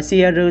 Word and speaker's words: Ciel: Oshiaru trong tiếng Nhật có nghĩa là dạy dỗ, và Shiaru là cách phát âm của tiếng Nhật.